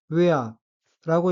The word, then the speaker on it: ウェア: 다음에 카타카나 단어는 철자를 하나씩 읽으면 우, 다음은 작은 에, 그리고 아이고 다시 우와 작은 에는 합쳐서 외라고 발음합니다. 따라서 단어 전체는 외아라고 읽으며 액센트가 첫 음절인 우에 있고 외아는 옷, 의류라는 뜻입니다.